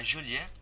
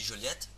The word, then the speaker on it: Joliet: À Joliet, il est, il est il est illégal de mal prononcer le nom Joliet. Donc en gros, tu es un visiteur, tu vas dans la ville Joliet, et par exemple tu dis Joliette, enfin même moi qui